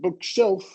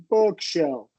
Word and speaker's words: bookshelf: And usually if we're talking about compound nouns, we're going to do uh so stress on the first syllable. But you're not saying bookshelf, right? Really short. It's bookshelf.